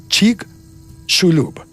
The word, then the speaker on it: Chicxulub: Chicxulub. La X, según las instrucciones que vi, se pronuncia como sh, así como argentino. Chicxulub.